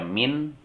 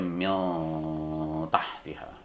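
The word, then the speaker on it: مِن تَحْتِهَا: Contoh, nun mati ketemu tak, tidak dibaca min tapi dibaca mil tahtiha, agak condong ke huruf ta.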